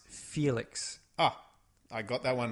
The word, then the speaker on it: Felix: By the looks of it, That's pronounced Felix.